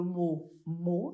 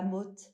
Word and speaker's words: mot: et après, le mot, ça s'écrit M-O-T, et du coup, elle a prononcé la motte.